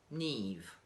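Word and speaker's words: Niamh: And that one is Neve.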